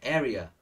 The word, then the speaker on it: area: you say this word area areaa the stress is in the first one okay an area a